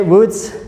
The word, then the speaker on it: woods: Repeat after me. Woods. With the long U sound, right?